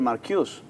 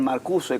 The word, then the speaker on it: Marcuse: A ver, esto fue escrito por Herbert Marcuse, o Herbert Marcuse, como se lo quiera pronunciar.